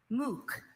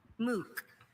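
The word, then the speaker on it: MOOC: Your word is moo. This moo is a noun and it means an online academic course of study that is freely available to internet users. Moo.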